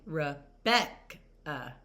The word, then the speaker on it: Rebecca: So remember my name Rebecca. So my stressed syllable was Beck. So, Rebecca, that uh at the end obviously is not stressed, but you can also